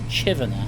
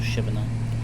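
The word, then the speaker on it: Chivenor: is um Chiva apparently is it chiver or Shiva I don't know how they pronounce it apparently it's chiver not shiver but yeah it's an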